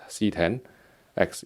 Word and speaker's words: CX: off with the lg CX series I know it's meant to be pronounced as C 10x is the Roman numeral for 10 just like iPhone 10's iPhone 10 but I'm gonna continue